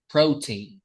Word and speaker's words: protein: It's stress on the first syllable, right? Protein. Once again, protein. Yeah. All right. So, as you can see here, we have only two syllables, right?